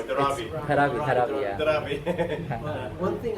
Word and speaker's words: Dharavi: Now see the authentic Highly Davari. Sorry, I said it wrong. Dharavi.